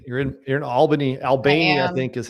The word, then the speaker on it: Albany: Albany, I think is how you say it. Is that how they say it out here? Albany.